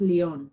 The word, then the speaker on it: Lyon: the world it's pronounced lyon like you're eating the letter n instead of saying it i rest on leon